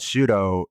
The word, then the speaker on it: Shooto: The reason why it's called Shudo is because it's the Japanese pronunciation of shoot.